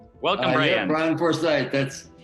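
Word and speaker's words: Bryan Forsythe: Brian Forsyth. That's how you pronounce it.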